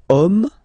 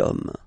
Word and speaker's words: homme: we've got the word homme, man, okay, but then it starts with H, as in French, H is not pronounced, so the first sound that we hear is O, okay, and then it will follow the same rule.